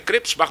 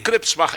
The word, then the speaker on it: Krebsbach: E Bach também não é tão difícil. É Krebsbach, meu sobrenome. E Bach é o mesmo sobrenome, por acaso, do Johann Sebastian Bach. Grande. Então, Krebsbach, essa é a pronúncia do meu sobrenome.